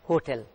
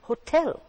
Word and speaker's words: hotel: pronounces pronounce it as hotel hotel hotel in english it is not that it's hotel the stress falls on the second part hotel the word b-a-m-b-o-o it's